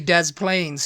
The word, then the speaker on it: Des Plaines: probably Des Pless illino but it's really Dez Plains who um presents the